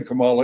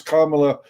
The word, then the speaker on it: Kamala: uh that you could you could never say kamala it's kamala uh and you're culturally